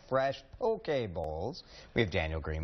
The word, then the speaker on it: poke: It's spelled like poke. Don't be like me. I went to a restaurant and asked for a tuna poke. You did ask for a tuna poke.